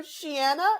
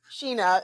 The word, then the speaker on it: Sheena: So Shiana? No, it's Sheena is just her name, but you calling her Shiana is so funny. Yikes. She would jump off a bridge if she there's heard you say There's a C in there. Sure, yeah. Yes. Sheena, yes. Sorry, what was the question?